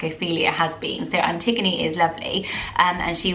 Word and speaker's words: Antigone: because i've been like not sure how to say it but it is antigone there were only about